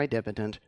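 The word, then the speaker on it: idempotent: the talk and second don't worry I know there is another pronunciation for idipotent but this is another accepted pronunciation and I like it better verbs are stateless identitant functions Nouns are stateful mutable data.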